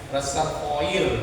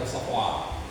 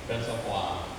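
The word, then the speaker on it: réservoir: sitroen aja ya ya reservoir kita bilangnya tapi Mereka bilangnya resoa resvoa Jadi bukan reservoir ya ini dulu pemimpinnya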